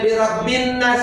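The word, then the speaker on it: بِرَبِّ النَّاسِ: Kenapa dibacanya birabbin nas? Padahal ada alif lam. Kenapa ada tasdid? Karena ada alif lam syamsiyah. Kenapa dibilang syamsiyah? Karena nggak kebaca.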